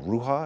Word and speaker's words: Rouha: One of the characters, very, very striking character, is this 9-year-old girl, Ruha, am I pronouncing it correctly?